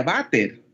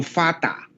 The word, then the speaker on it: Vater: Vater, pero no se pronuncia Vater, sino Fata. Bueno, ahí sí la F de la inglés father, pero se pronuncia fata.